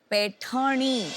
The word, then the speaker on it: पैठनी: स्लोनी, पैठनी, वो जरा प्रोनाउंसिएशन इनका चेक कर दीजिए.